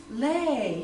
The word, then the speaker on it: Louie: know any Louise and I didn't know at that time that that's not the way you pronounce the name and so finally I I show showed my guide this which my father wrote my name on and and they said Oh Leigh you're Leigh and I thought oh